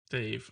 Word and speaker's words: Dav: You guys bumped into Dave. I forgot his name already. I think it's Dave. No. Damn? It's spelled Dan, but I think it's pronounced Dave. Okay. Dav. There we go.